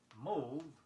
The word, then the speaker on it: mauve: Mauve refers to a pale bluish color. It is spelled M-A-U-V-E.